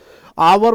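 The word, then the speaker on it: hour: आवर में भी वैसा ही देख लो। एच साइलेंट रहता है। यहां उच्चारण किसका होता है? आवर का होता है।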